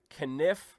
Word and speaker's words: Kenniff: of people are thankfully Sean conniff right knife right yeah you know my mom says Kenneth my dad says Kenneth I go with my dad's pronunciation so you hit it right